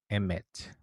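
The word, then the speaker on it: אמת: assim que se escreve em hebraico e se pronuncia emmett emmett é a verdade em hebraico mais uma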